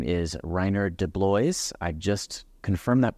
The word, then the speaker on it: Reinier de Blois: His name is Reinier de Blois. I just confirmed that pronunciation with him.